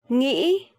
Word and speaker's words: nghĩ: I know it's really hard for foreigner to pronounce this tone mark, but there is no way but practicing. If you hear people from the southern accent, they would say nghĩ, a bit softer, right?